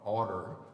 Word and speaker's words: order: thing about this song, it's got a madeup word in it. Um um um order, which is the way Mr. Ives pronounce ought to to make it rhyme with water.